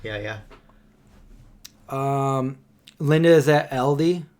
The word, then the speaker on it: Aldi: Linda is that LD I found that that's the real way to pronounce it LD LD because first it was all these then it was all D and now its LD okay wear it out it was always Aldi but that's the progression